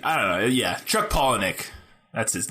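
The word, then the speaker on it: Palahniuk: like poen Pock so I found a video where he pronounces it and he he says like penck saw Pock yeah sorry that's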